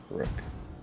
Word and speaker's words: Brooke: Like look but Brooke. Look but Brooke. So it is Brooke.